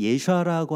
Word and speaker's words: 예슈아: 이제 관계가 생기잖아요 또 예슈아의 이름이 예슈아라고 하는 그 정확한 발음을 우리가 알기 시작했잖아요 그렇게 불러들이는 것이 내가 중심적으로 내가 바로 왕이 되어서 예슈아의 이름을 나는 예슈아라고 부르는게 좀 귀찮으니까 예수라고